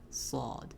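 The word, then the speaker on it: ص: But would be in contrast we have saw. It's the heavier version of seen. And you can call it comes from the same spot has the same whistle. It's just the difference is when you say it you frown. So I've heard a lot of native udu speakers call it. There's no wow or w sound in there. So that would be incorrect.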